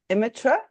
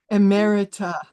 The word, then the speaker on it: emerita: Now, I don't know if I can pronounce this correctly, Ellen. So is it Imitra? Emerita.